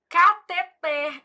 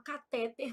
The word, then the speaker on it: cateter: Eu falo: "Júlia, você não é daquelas médicas que fala catéter, não, né? Porque sua mãe é professora de português. Foi com esse dinheirinho que ela pagou os seus estudos. Então você vai falar catet, ela fica rindo."